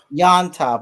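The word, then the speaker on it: Llontop: How do you pronounce that with double L? Does anybody have a better idea than me? What is it? Yontop. Okay, so it's like a what? Okay, so James Yontop at 6,600.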